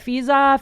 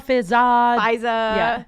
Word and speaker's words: Fizaa: Fizaa. Fizaa. Yeah. Fizaa. Yeah, it's spelled like Fizaa.